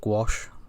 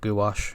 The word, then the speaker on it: gouache: a opaque watercolor paint called gouache or gouache however you want to pronounce it i'll call it gouache because it's easier than the cocktail stick